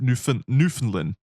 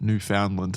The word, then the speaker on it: Newfoundland: It was located 12,500 feet deep in the ocean and around 600 kilometers southeast off of Newfoundland. I think that's how you pronounce it.